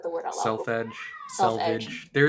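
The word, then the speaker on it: selvedge: the word out loud selfedge self there it's like it's spelled and pronounced basically both ways yeah both ways as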